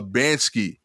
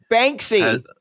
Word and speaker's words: Banksy: and uh finally uh bansky banksy banksy yeah right i said it wrong again didn't i yeah think of bank bank c yeah bank c okay banksy um why does